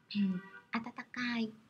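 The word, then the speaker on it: 暖かい: Atatakai là từ ấm nói về thời tiết.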